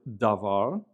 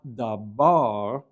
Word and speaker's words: davar: We see here on the left the word davar, davar, which means word or thing, davar. And notice that has a bet in it without the dagesh, and so it's not dabar, it's davar.